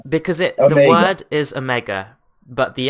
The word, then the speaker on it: Omega: word is Omega, but the accent, the New Zealand accent, goes for Amiga sort of pronunciation.